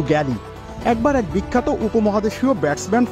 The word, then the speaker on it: Gilly: বলতাম লিভ ইট টু গ্যালি। গিলিকে Aussie উচ্চারণে অনেকেই গালি ভেবে ভুল করতেন।